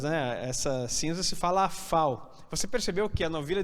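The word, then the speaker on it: אפר: A palavra quer dizer novilha ou vaca, né, vermelha, quer dizer, se fala parrá, e cinzas, né, essa cinza se fala afal.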